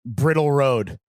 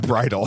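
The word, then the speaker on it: Bridle Path: Brittle Road. It's Bridal. Bridal? Yeah. Oh, it is pronounced like Bridal.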